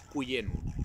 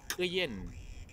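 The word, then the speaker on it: küyen: Compuché no es Cuyén, no. Tampoco es Quillén, tampoco. Es Quillén, Quillén.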